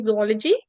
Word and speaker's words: zoology: is it option number four zoology okay or zoology the correct pronunciation is zology okay so the study and development of an